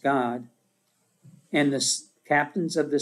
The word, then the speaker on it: Gad: the tribe of god gad or god it's actually pronounced god and the captains of